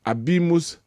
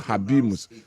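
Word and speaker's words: habemus: 14th okay uh teller that in Italy we don't produce h so it is abimus papam abus papam okay not habimus I don't pronounce I didn't pronounce h in abimus Prince Edi and Abra.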